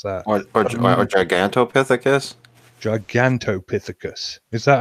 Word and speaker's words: Gigantopithecus: It touches on the possible origins of Bigfoot as a relative of Gigantopithecus. I really should know how to pronounce that. Or Gigantopithecus? Gigantopithecus.